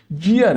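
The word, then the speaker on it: year: आ लगाएंगे यर यर कुछ लोग इसको ईयर पढ़ते हैं मतलब अलिफ या अलि मदा से शुरू करते हैं वो गलत है यर है यर तो ये ये से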